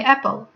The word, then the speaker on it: apple: In English, you don't pronounce the final E letter. You say apple. If it was in Russian, you would pronounce it something similar to apple.